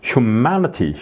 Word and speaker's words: humanity: 되는 거죠 gratitude gratitude 라기보다는 gr 예 이렇게 발음이 되는 거예요이가 아니고 예 그다음에 여기에 아가 있으니까 앞에 바로 humanity hum 그래서 요거 제가 실러 이렇게 따로 이렇게